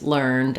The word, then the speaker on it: learned: So in the past tense learned, as in I learned it yesterday, he learned a lot about that, the letters ed just say the d sound.